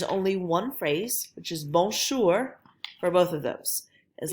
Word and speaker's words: bonjour: So our first phrase is bonjour, bonjour. If you remember, this one's really nasal, it's up in your nose.